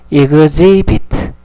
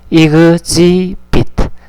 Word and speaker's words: exhibit: 발음 조심해 하세요. exhibit. exhibit.